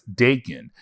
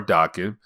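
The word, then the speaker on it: Daken: the character known as Dakin now remember Dakin or Dakin is actually the son of Wolverine now of course by this point Dakin or Dawkins however you want to pronounce it is part of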